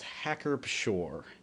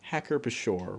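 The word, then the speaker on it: Hacker-Pschorr: of the day is hacker shore uh now i did actually look online and uh it is claimed that you pronounce the p in this uh i suppose i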